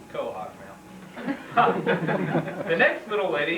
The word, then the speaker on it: quahog: He says New England is for him until he can find another place in the world where the people can pronounce quahog correctly. It's quahog, Mal.